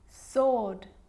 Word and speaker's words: sword: It's also not pronounced in these common words: who, whoever, whole, to, sword, and answer.